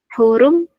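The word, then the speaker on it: حرم: Ya ayyuhalladzina amanu la taqtulus sayda wa antum huru bacanya gimana ini Mbak? Hurum pendek. Wa ahtum hurum. Soalnya wakafnya toh. Iya. Hurum. Iya, pendek aja.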